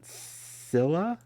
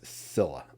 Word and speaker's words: Scyla: am i talking about scilla i'm just going to say silla because i think that's the way you pronounce it if you're not familiar